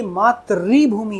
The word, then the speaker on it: मातृभूमि: तो ऐसे ही थे लेकिन बोलने में हम 50 टू 60% आदमी इसको मातृभूमि पड़ेगा जबकि मातृभूमि नहीं है। ये मात्र री भूमि है क्योंकि यहां पे जो